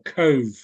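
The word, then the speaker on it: Cobh: and certain parts of cork were great absolutely wonderful places to go to and we've been we've been down to I think they pronounce it co or Cove Cove Cove Cove where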